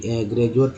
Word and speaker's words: graduate: उसी तरह ज, डी से भी ज होता है, जैसे ग्रेजुएट ले लीजिए, GRADUATE है ना, ग्रेजुएट में डी का उच्चारण क्या हो रहा है, ज हो रहा है। को ऐसे तो नहीं बोलते ग्रेजुएट, बोलते हैं ग्रेजुएट।